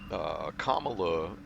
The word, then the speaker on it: Kamala: a recent trip, and Kamala, but the way that he pronounces it apparently is very common to West Africa. So to pronounce it Kamala.